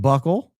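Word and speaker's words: buccal: It's pronounced buckle.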